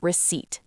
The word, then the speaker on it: receipt: Be careful. The P is silent. It sounds like receipt.